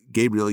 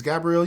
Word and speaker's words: Gabrielle: well you interviewed uh Gabriel Union uh about her new film Gabrielle yeah I'm sorry I messed it up you said Gabriel oh it's pronounced Gabriel hey Nick it's Gabrielle Union right Gabrielle okay whatever